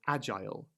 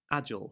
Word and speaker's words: agile: not all words, but many that end in ILE. For example, agile. I am an agile person. Americans will say most of the time agile or mobile and mobile. So these are differences between the dialects.